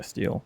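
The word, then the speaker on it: stele: How do you pronounce that? Actually, I should look this up before I embarrass everyone else. Yeah, steal.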